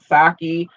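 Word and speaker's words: Psaki: administration but anyway um i'm just assuming that the p is silent saki um the press secretary the um 2016 effort to put her well it was the effort in 2016.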